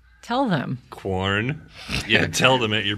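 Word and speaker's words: Quorn: it's just corn corn that's not how qu is pronounced tell them corn yeah tell them that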